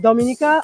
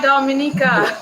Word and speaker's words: Dominica: in the Caribbean when I think of Dominica I it's all natural and you can get